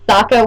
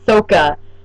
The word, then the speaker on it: Sokka: Like Sokka was Soka, Aang was Ang, Avatar was Avatar.